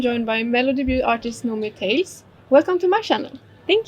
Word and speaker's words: Nomi Tales: In English I say Nomi Tales. But in Swedish we say Nomi Tales because in Swedish you pronounce it with an O.